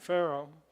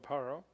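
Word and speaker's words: פרעה: Yep, not Pharaoh, but Paro.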